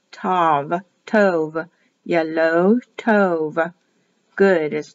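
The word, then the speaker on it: טוב: T O W V. Pronounced as a V, written as a V. Tov, Tov.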